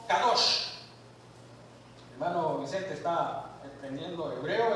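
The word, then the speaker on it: קדוש: Dice que el término ah se pronuncia en hebreo kadosh.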